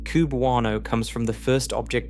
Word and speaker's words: cubewano: Astronomers pronounce the designation QB1O, which eventually became cubewano, and the name stuck as a label for the entire class.